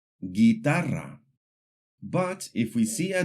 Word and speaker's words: guitarra: When we see the combinations GUE or GUI, the U is silent. For example, guerra, guitarra.